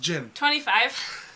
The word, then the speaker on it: djinn: It's genie. But it's pronounced Jinn.